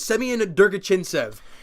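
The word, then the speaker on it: Semyon Der-Arguchintsev: And Adam Brooks obviously is going to be there, and the guy that I'm jacked up about, Semyon Durgachintsev. You finally pronounced that name right.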